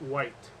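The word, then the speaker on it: wight: with W IG HT we pronounce it white that's actually with now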